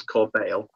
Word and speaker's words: corbeil: It's pronounced as Corbeil, which is a stone representation of a basket of flowers.